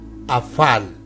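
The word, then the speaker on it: Afallon: monroe dice aval y el idioma galés se dice afán con la pronunciación del a efe como de avalon también fue llamada y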